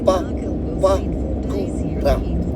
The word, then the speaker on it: Papakura: Everything else is pretty straightforward in the kupu. Pa, pa, ku, ra. So all of your vowels in that are all short. There's no stressed vowels, there's no long vowels in it.